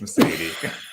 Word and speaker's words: Meseidy: do you say your name it's message it's mercedes talk to you later folks bye